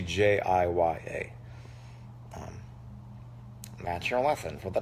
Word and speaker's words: Jiya: Someone just said Gia. It's actually Jiya.